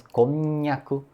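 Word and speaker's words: こんにゃく: Por exemplo, tem a palavra "konnyaku", "konnyaku", que é aquele, a comida japonesa, e a língua praticamente cola, né, no céu da boca quando fala, falamos "konnyaku", por conta da articulação do "nya", né?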